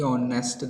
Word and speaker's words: honest: Okay, honest, that we people have already mentioned it. Honest, it begins with h, but h is silent, so honest man we people say usually.